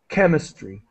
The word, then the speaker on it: chemistry: this word chemistry uh CH has different pronunciations so in this situation it's pronounced as K chemistry okay sorry chemistry so